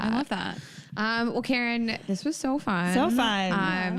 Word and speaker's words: Kerryn: not like the Karen your name is it's Karen it's k e r r y n my mother just had